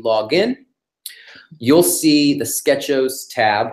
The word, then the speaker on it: Sketchos: have launched customer-wide our Sketchos. Nobody knew how to pronounce that. It was always like SketchOS, SketchOS. We're calling it Sketchos, our sketch ordering service.